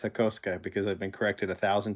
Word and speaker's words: Hakosuka: on my video about the Hakoska Skyline, because it's spelled H-A-K-O-S-U-K-A. And he said, hey, it's the Hakosuka. It's like, no, it's not. It's Hakoska, because I've been corrected 1,000 times by my